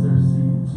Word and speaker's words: Circe: Shouts out Circe, I believe. That's the correct pronunciation, Circe.